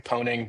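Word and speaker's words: pwning: Oh, I've always pronounced it pun pun pun. No, we have we have to get into that later. It's definitely poning, but puning is incredible.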